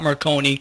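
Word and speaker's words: Merconi: Stop Marconi. Rhymes with Sindoni, so you realize I wrote it because it was a true story.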